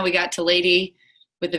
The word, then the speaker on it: LVDY: Kathleen and Aubrey make up Lady, which is a Colorado-based indie folk duo known as Lady, LVDY, but pronounced Lady.